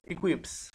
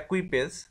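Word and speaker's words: equipage: with her ইন হার ইকুইপস, এটা actually সঠিক উচ্চারণ যেটা একুইপেজ, তো বলা হচ্ছে যে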